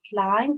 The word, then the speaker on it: climb: The B is silent. Climb, that's mean to go up.